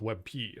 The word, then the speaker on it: WebP: Webp is pulling ahead.